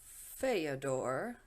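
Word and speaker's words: Фёдор: is my sister, and I wanted to update the pronunciation for Fyodor, because apparently it's like the Russian Theodore. So I was pronouncing that a little incorrectly.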